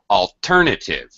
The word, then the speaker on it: alternative: Alternative, ter, gets most of the stress.